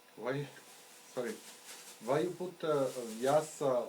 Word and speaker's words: Vyasa: Why you put vyasa like vy? Vyasa. Why didn't you put vam and not vyam? Because in his name, that vya is one syllable. It's one akshara. It's not vaya. It's vya.